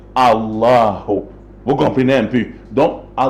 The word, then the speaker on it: Allahu: et en arabe maintenant, les musulmans disent Al-Ilah. La même chose, Al-Ilah, on a enlevé le Hamza pour faciliter, n'est-ce pas quoi, la prononciation qui devient Allahu.